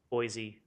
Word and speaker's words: Boise: Boise, the Z.